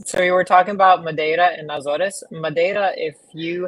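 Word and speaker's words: Madeira: So you were talking about Mada and Nazarees.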